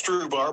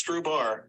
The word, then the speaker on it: Strubhar: Am I pronouncing that correctly? Yep, we say it's Strubhar, but same difference. Strubhar, Strubhar. So it's Strubhar.